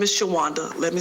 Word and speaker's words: Shawanda: My first name is Shawanda. Let me spell it.